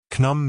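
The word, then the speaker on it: Khnum: That'd be pronounced knum, I suppose. Rhymes with kaboom.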